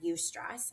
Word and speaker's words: eustress: There's a good stress called eustress. I always like to spell it so people understand, but it's EUSTRESS.